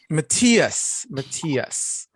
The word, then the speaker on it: Matias: Matias.